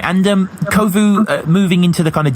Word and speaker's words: Kovu: It's it's Kovu and Danny Jack or Kovu hosted by Danny Jack or whatever. That's right. Right. Right. And um Kovu moving into the kind of DJ sphere like